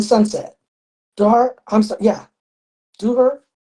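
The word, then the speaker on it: ظهر: Yeah, Duhur. How do you say it? Duhar, Zuhur. Yeah, Zuhur.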